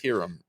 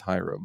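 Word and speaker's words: Hiram: It's herum. All right. It's not. It's Hyram.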